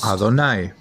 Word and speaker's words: Adonai: El Talmud nos dice, estoy escrito Yud Hei Waw Hei, pero se lee o se pronuncia como Adonai.